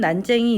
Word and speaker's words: 난쟁이: 이 작품의 난자 이가 원래 난장이가 바른 표현형 었지만 지금은 난쟁이 이렇게 발음 된다는 것도 얘기 하고 있죠 그래서